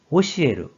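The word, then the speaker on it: 教える: 그래서 가르칠 교가 되었고 뜻으로는 오시에르, 오소와루, 음으로는 쿄로 각각 발음한다고 했습니다.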